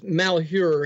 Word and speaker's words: Malheur: Okay, it's Malheur. It's an odd spelling. You almost have to live there to know the pronunciation.